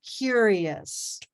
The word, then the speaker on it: curious: cucumber cucumber good and curious curious curious curious listen to the end yes yes yes yes yurious yurious yurious yurious and at the sea curious yeah curious curious curious